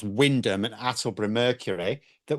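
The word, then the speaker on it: Wymondham: And all I could find was something on this local apparently pronounced Windham and Hattle and Mercury that were reporting on it.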